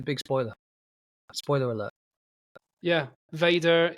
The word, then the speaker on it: vader: spoiler spoiler alert yeah Vader is the Dutch word for father the Dutch word is instead pronounced father yeah V is German